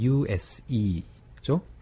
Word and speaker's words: use: 마지막 20번 단어는 사용하다라는 단어인데 use죠. 네, 그래서 use, use, 네, use, use, 네, 그래서 use가 아니라 use, use, 네, 스펠링을 보면 use 이렇게 네.